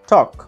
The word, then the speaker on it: talk: উচ্চারণ করছি তখন কিন্তু এটার উচ্চারণ এলটা সাইলেন্ট থাকছে, এই জন্য এটাকে সাইলেন্ট লেটার বলা হয়ে থাকে। কিন্তু উচ্চারণটা হচ্ছে টক, এল এর উচ্চারণটা কিন্তু